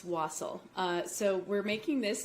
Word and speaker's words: wassail: saying it wrong wassel i was saying wassail all day but it's wassel so we're making this